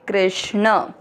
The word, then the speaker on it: कृष्ण: मनः क के नीचे री की मात्रा है, क आधा है और री से ऋषि की मात्रा क्री, के आर आई। क्री के साथ आधा श षटकोण वाला। कृष्ण और न में मिक्स करेंगे कृष्ण।